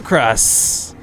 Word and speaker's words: KrasS: This is going to be the blue Terran player, KrasS. Now, I've had someone in chat just correct me. And it's supposedly pronounced closer to the word, to the sound of crust.